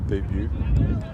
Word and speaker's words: debut: No one pronounces the debut. No, come on now. Now you're just joking. With the T. How do you say debut? Debut? You don't pronounce the T?